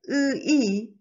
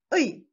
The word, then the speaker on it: ㅢ: If you say ui, it made already two syllables, so it's wrong. Please make just one syllable. Say ui.